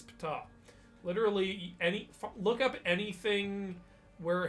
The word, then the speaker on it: Ptah: And some people go, I don't think it's pronounced Ptah. It is. I've checked. Oh, It okay. literally is pronounced Ptah, like Betue. You're like, oh, I think it's just pronounced Ta. No, it's Ptah.